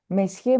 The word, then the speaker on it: Monsieur: Monsieur Martin, Monsieur, we don't pronounce N. Monsieur Martin.